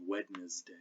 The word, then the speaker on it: Wednesday: and scissors and never say the t i presume in thistal which is a good idea or the d in wednesday which is a good